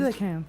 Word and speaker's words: Coelacanth: Coelacanth. Yeah, that's how it's pronounced. Coelacanth.